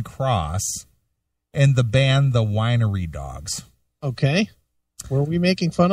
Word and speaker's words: The Winery Dogs: you can't pronounce Rubicon it's it's Rubicon it's not Reuben cross and it's not wiy dogs it's The Winery Dogs maybe if you listen